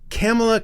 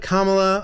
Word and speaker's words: Kamala: if I were hert that's pretty good now Kamala also Kamala Kamala like mamala yeah yeah or just Kama yeah but Kamala right yeah I I I've camela Kamala I've had trouble for years ever since she